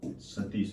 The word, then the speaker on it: सतीश: इन्होंने डॉक्टर जी सतीश, वैसे साथेश इंग्लिश में लिखा जाता है इसको, लेकिन हिंदी जब इसका प्रोनाउंसिएशन करते हैं तो सतीश बोल सकते हो।